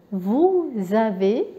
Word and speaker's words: vous avez: دونك اسكو انتبهوا للنطق اسكو vous avez, ici je fais la liaison, le S avec le A ça donne ZA.